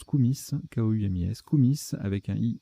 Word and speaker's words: koumis: Koumi avec un I, alors pardon, ça se prononce Koumis, K-O-U-M-I-S, Koumis avec un I ou un Y, lait fermenté de jument en Asie centrale.